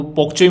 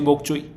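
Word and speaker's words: bok choy: कोलराबी मिल जाएगी, और आपको पोकचोई मिल जाएगी, पाक चोई, बोक चोई, है ना। पोक चोई एंड बोक चोई आर सेम थिंग, उसको डिफरेंटली प्रोनाउंस करते हैं अलग अलग जगहों पर।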